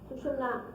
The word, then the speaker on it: सुषुम्ना: ऐसे कहते हैं - कोई सुषुम्ना कहते हैं कोई (अस्पष्ट) कहते हैं तरह तरह से इसके प्रोनन्सिएशन्स हैं लेकिन सुषुम्ना इसका सही माने में प्रोनन्सिएशन है जो कि आप मंत्र में भी उच्चारण कर पायेंगे।